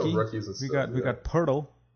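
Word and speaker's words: Poeltl: He needs to make a name for himself and let people know that his name is pronounced Pirtle and not Poldle.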